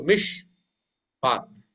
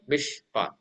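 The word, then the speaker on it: מִשְׁפָּט: And then the Beckett-Kefauver letter with a dot is Dagesh lene, and it begins the syllable. Okay, so mish path. Okay, mish path.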